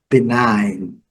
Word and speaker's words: benign: Esse GN. Benign. Benign. Bem clássico, nesse padrão.